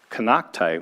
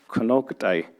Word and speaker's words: Konocti: So Kanaktai, which in our language is actually pronounced Konoktai, actually means old mountain women.